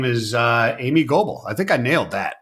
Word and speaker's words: Amy Gobel: She's a co-founder of the Alliance for Responsible Capitalism and her name is uh Amy Goble. I think I nailed that right. I pronounced Amy correctly, didn't I?